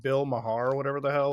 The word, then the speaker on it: Maher: But I don't know how to pronounce his last name right. Bill Maher, right?